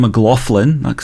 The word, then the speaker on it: McLaughlin: about Frank Zappa versus John mlin or I should say John mlin that's how you say it apparently um is it yeah